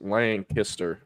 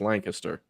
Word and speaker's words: Lancaster: Lancaster Lancaster in Dallas it's spelled Lancaster that's how it should be said um but everyone up there says lanaster I don't know why but it's Lancaster um so yeah I